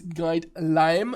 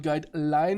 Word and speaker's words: Guidelime: It is Guidelime, not Guideline with an N. It's with an M. So the fruit, the lime.